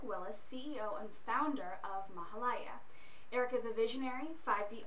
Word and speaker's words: Mahalaya: actually okay mahalaya okay mahalaya is the actual correct pronunciation of it and really what